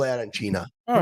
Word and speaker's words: arancina: me, it's an arancina. And yes, if you go to Palermo, like you were in Palermo, you ask for arancino, they're not gonna serve you until you say it right.